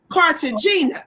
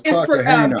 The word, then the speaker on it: Cartagena: It says Joseph Fat Joe Cartagena. Is that how you pronounce his name, y'all? No, it's Cartagena.